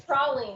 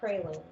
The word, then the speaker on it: praline: It's praline, not praline.